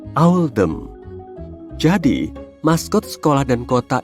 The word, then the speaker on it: Oldham: Pilihan ini dibuat untuk mencerminkan pelafalan Oldham dalam aksen lokal, yaitu Owldham.